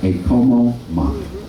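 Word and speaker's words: e komo mai: A, the E is pronounced as an A, always. And the O is an O, always. That means that would be pronounced a como mai.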